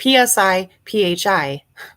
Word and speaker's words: Psi Phi: sci-fi is that how you say it it's psi phi fraternity upon a search of law enforcement computerized